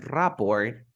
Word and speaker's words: rapport: bouquet then we have rapport Depot look at the last word we never pronounce the T so what you have